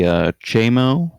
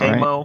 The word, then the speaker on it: Cheamo: Alright, somebody who sounds like they know says it should be Cheamo. That's how we should be pronouncing his name, is that Cheamo.